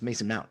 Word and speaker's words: Mount: Am I getting his name wrong? I feel like Mason isn't. No, it's Mason Mount.